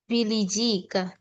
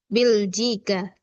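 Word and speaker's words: بلجيكا: Hua min bilijika. Hua min bilijika h. H tholibun jadidun hua min bilijika. Oh afwan ya. Jadi ini bacanya hua min biljika.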